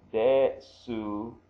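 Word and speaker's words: です: So te becomes de. So this is this all together right here is de. And this is the hiragana su. So de su or desu.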